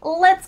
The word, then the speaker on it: let's: When you say the T in the middle of the word let's, your tongue is just tapping the top of your mouth.